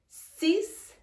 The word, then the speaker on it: six: Again, un, through the nasal passages, cinq, six. Now pay attention to this one because it's spelled the same way as in English. 6 and six. Spelled the same way, but very different pronunciation.